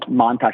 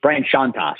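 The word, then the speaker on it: Chontosh: Not Brian Montage, Brian Shantosh. I'm sorry. Okay. I said his name wrong. But he goes by Tosh, but yeah, Shantosh.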